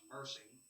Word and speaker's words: MERCY: It is the consideration of the Murphysboro Economic Relief COVID-19 event, which is an acronym to be pronounced MERCY.